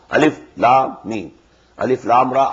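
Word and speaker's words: الم: These are pronounced separately, and so they are the broken into pieces. Not pronounced as Alif Lam Mim Alam, no. Alif Lam Mim.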